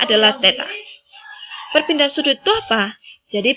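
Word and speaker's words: θ: Jadi itu bacanya adalah theta.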